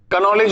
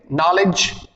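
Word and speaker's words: knowledge: अब देखिए आपको सीखना पड़ेगा कि के एन, के के साथ अगर एन है तो के साइलेंट हो जाता है, इन सभी वर्ड्स में के साइलेंट हो जाएगा।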